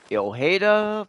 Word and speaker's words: Ojeda: The next one's going to be the Ojeda Bangled Bracelet. Only reason I know about how to pronounce that is I had a school teacher, 4th grade in California. Her name was Miss Ojeda.